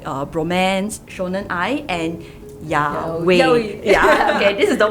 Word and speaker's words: yaoi: from other terms like bromance, shonen ai, and yaoi. Yeah, okay, this is the one that I always have problems pronouncing.